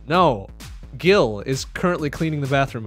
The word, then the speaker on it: Gil: Whenever I see just Gil, G-I-L, I'll go with the hard G. Like the money in the newer Final Fantasy games, not that I play those.